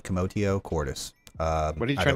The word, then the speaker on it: commotio cordis: assume the term is commodio Cordis commotion commodio quartus with t commotio Cordis uh what are you